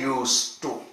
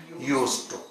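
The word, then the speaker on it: used to: लेकिन जब इसको एक मॉडल वर्ब के रूप में प्रयोग करते हैं तो ये सेकंड फॉर्म जैसा लिखने में होता है, लेकिन प्रोनाउंसिएशन में, उच्चारण में ये इससे बहुत अलग होता है और इसका प्रोनाउंसिएशन यानी इसका उच्चारण हो जाता है यूज टू।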